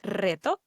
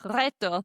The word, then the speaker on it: reto: Well, Emmy, the R the is rolled when it appears at the beginning of a word. It's why you have been saying at the end of the podcast reto instead of reto.